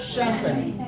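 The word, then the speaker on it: champagne: ठीक है, लेकिन इसका सही तरीका उच्चारण क्या है इसका? शैंपेन. देखो एकदम जमीन आसमान का अंतर नजर आ रहा है. हाँ, यहाँ चंपा गेन कुछ नहीं मिल रहा है, एकदम से अलग आपको उच्चारण मिला.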